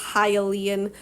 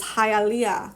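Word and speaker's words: hyaline: of cartilage for instance hyan cartilage not to be um pronounced as halalia cartilage right this is an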